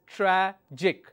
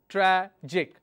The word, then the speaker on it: tragic: If I have a word which is tragic, so IC is my ending, my syllable is tragic, tragic. I will stress on tra.